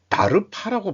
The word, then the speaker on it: DARPA: 다르파라고 발음하더라고요.